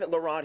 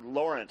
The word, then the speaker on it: Laurent: Beaver Creek Art Festival and I have Elaine Lorant here Lawrence sorry mispronouncing Lawrence it's so easy to do I'm